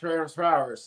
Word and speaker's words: Ferencváros: What I know is that it's pronounced Ferencváros.